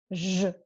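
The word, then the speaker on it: Ж: Looks like a star, actually, but we pronounce it like zh, zh, zh.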